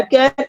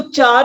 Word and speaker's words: CHAR: मैं दोबारा से फिर करवा दूंगी, एक बार देख लो, इनको समझ लो, माइंड में रख लो। एंड वन मोर थिंग, ये आपका है प्रोनाउंसिएशन कैर, CHAR कैर, इसको चार नहीं बोलना।